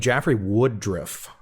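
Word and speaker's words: Jeffrey Woodriff: You have a gentleman named Jaffrey Woodruff. I'm pronouncing that right, I think.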